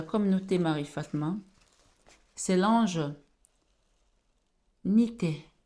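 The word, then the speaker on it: Nithaiah: L'ange de ce 11 septembre pour la communauté Marie Fatma, c'est l'ange Nité, Nité, N-I-T-H-A-I-A-H. Cet ange, comme l'ange Yehiel plutôt, comme l'ange Yehiel qui s'écrit et I-A-L-E-L.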